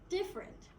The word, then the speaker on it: different: you different right um probably you would say it's three syllables but in English it's actually just the two different yeah um did we